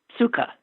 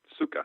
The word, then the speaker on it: sukkah: i need to know how to pronounce this word s-u-k-k-a-h suka suka that's what i thought i had to be